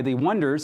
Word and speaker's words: Oneders: In the movie that the song is in, the song was written by The Wonders, spelled like that, in 1964.